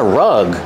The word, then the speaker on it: rug: this oh that's a rug rug has a short uh sound like cup and up this is a rug